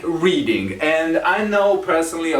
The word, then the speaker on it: Reading: up northern from london it is pronounced reading you've probably heard of the reading festivals that's where they take place reading not reading but reading number 13 is a